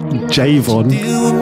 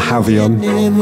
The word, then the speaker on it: Javon: I should probably say that that is Javon not jaon I'm probably going to be getting a lot of people pronouncing that very wrong but his name is Javon I just like saying